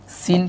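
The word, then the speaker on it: سين: সিন, সিন যখন উচ্চারণ করবেন খেয়াল করবেন আপনার জিহ্বাটা দাঁতের মধ্যে একদম লাগবে এভাবে, ঠিক আছে? সিন, জিহ্বাটা দাঁতের সাথে লাগবে, সিন।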